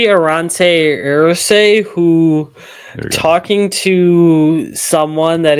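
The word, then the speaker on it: Aireontae Ersery: Like it's Arante Irsi, something like that. Yeah, so it's going to be Arante Irse, who talking to someone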